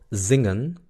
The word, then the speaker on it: zingen: Ya saben que la I es I y la EN es N.